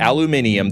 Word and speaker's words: aluminum: and aluminum around, and if you're about to try and correct my pronunciation of aluminum, don't, you're an idiot. I'll call it aluminium the day I start speaking the King's English and switch to a British accent.